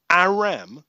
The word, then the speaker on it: Aram: So this guy's 4-0, undefeated, and his name is Aram.